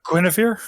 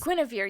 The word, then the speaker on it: Guinevere: uh gun over um this one is quinnifier guinevere yes it's spelled very strangely and i can't read apparently gwynevere um have you